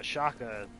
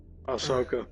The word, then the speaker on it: Ahsoka: I think, if I'm not mistaken, he showed up in the Shaka TV show. Yeah. I'm hoping you mispronounced that on purpose. Ashaka, Ashoka, Akoka, whatever. Ahsoka.